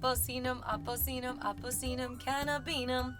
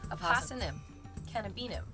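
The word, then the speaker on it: Apocynum cannabinum: aosm cannabinum I also really enjoy saying AUM AUM canab I thought that rhymed really well but then I found out it's pronounced AUM cannabinum this for me was a huge Discovery because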